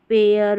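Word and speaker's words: pear: जैसे देखिए ई ए है, यहाँ पर इसको बेयर पढ़ेंगे, एयर करके पढ़ा जा रहा है, बेयर, पेयर, वेयर। तो यहाँ पर जो ई ए है इन स्पेलिंग्स में ई ए के बाद में आर रहता है, तो यहाँ पर ई ए को एयर करके पढ़ते हैं, ये है रूल।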